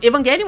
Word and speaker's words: Evangelion: significado do grego, e é por isso que eu falo ela Evangelion e não Evangelion, porque a palavra vem do grego, e em grego, eles não têm esse som de J, eles pronunciam o G mais forte.